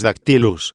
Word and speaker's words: dactylus: Efectivamente, cuando decimos dactylus, dáctilo, pronunciamos una sílaba larga y luego dos breves.